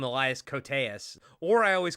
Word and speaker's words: Elias Koteas: I always get this guy's name wrong because I believe it's not Elias. I think it's like Eli Koteas or not gonna work here anymore. I always call him Elias Koteas, or I always call